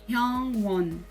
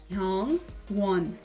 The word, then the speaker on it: Hyungwon: A gente romaniza como Suga, mas a pronúncia do nome dele é Suga. Hyungwon, Hyungwon, Hyungwon.